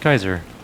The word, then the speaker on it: Caesar: to some people like when i grew up quickly it was caesar but apparently it could also be pronounced kaiser which maybe makes it